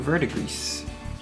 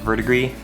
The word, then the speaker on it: verdigris: Now we're gonna take Siltec green and paint some verdigris. I know it's pronounced verdigris. I just like to say verdigris.